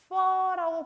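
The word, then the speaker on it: phở: 그래서 쌀국수는요 포라고 하시면 안 돼요. 퍼라고 발음을 하여야 하고요.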